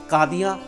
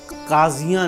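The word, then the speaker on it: काज़ी: हजूर य उच्चारण है इसी तरह काजी दा उच्चारण कादी है जे नहीं ता लिखन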